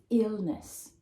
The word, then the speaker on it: illness: Now I've got the phonemic transcription here, and in a dictionary you will see the stress with this apostrophe, okay, just before the stressed syllable. Illness, illness.